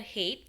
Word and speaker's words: height: Height itu bacanya bukan height tapi height ya.